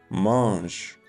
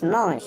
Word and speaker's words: mange: The first part, ma, sounds like the ma in mama, as if you're a hungry baby calling for food.